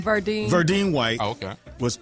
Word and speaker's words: Verdine White: Verdine White.